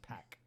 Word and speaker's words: PAC: if you listen to the i believe it's pack yeah it is pronounced pack barrel make some noise pop but um i